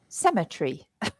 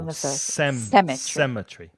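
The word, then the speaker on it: cemetery: of an a tree semet tree there you are SEMA tree sem the stress the stress is on the first syllable cemetry cemetry cemetry that's it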